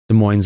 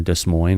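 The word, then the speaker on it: Des Moines: again nice time exposure de moines Iowa or desine or de moines however you pronounce it depending on where you're from Levan County Florida faintly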